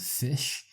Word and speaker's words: Fisz: One hip hop artist I really like is a guy called Fish. I think that's how you pronounce his name.